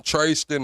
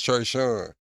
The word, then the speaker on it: Trayston: Oh, I'm saying his name wrong too. His name Trayston. I keep calling his ass Trey Sean.